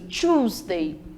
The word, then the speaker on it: Tuesday: mandei para a segunda-feira a terça-feira a pronúncia é tuesday shoesday então capricha aí nesse início choosday já quarta-feira eu tenho